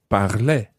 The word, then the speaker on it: parlais: Now, this sound at the end of the word sounds as if it's exactly the same for je, tu, il, and elle.